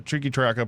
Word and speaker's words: Triqui Traca: Mi Querida Triqui Traca, pronounced. What I just said it is Triqui Traca, arguably that sounds like a Polynesian god.